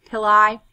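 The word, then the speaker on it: pili: But in this case for bacteria, they like to call them pill or pilli. kind of rhymes with silli or psyia or fimbre.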